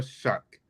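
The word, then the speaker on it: Shough: Tyler Shuck and the New Orleans Saints.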